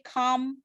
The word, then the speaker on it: calm: Ini biasanya kalau calm down itu ada silent letter in L, jadi biasanya dia calm pakai M aja.